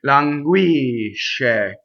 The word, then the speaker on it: languisce: this word is that the sh is very strong and it's considered a double consonant by Italians. So what I mean by a double consonant, listen again, languisce. So it's totally on the last syllable, right?